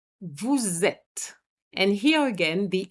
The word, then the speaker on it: vous êtes: Have you noticed I made a little liaison here, which is a compulsory liaison, vous êtes.